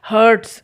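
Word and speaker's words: heart: हर्ट होता है और जो दिल होता है उसको हार्ट बोलते हैं मैंने देखा बहुत सारे स्टूडेंट्स उसको मिस प्रोनाउंस करते हैं उसको भी हर्ट बोलते हैं इसको भी हर्ट बोलते हैं इसका मतलब होता है दिल दुखाना और वो हार्ट बड़े आ की मात्रा हर्ट की तीनों फॉर्म्स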